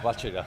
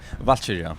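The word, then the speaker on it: Valkyrja: It's been about 5 years since the release of, I'm just going to say it the way Valkyra, right? Yeah, Valkyria. Yeah, how do you say it? Valkyria.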